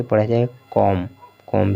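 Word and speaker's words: comb: बम बम भी इसी तरह से पढ़ा जाए कॉम कॉम भी इसी तरह से पढ़ा जाएगा डम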